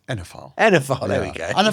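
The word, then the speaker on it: oenophile: How do you pronounce that? I always get it wrong. Wienerphile. Enophile, there we go.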